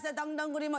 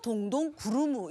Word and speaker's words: 동동구리무: 그러니까 왜 동동구리무냐 하면 그 당시에 북을 치면서 떼레레레레레레 왔어요 동동구리무 이렇게 동동동동 북을 쳤다 해서 동동이고 아. 크림이 일본식 발음으로 구리무에서 동동구리무가 됐던 거예요. 동동구리무, 동동구루무 이렇게 불려졌었죠. 네, 예, 저는 네.